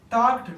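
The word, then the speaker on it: talked: लोग डी लगा टक यहां पे एल क्या है हमारे पास साइलेंट है टक्ड टक्ड टॉकिंग फिर है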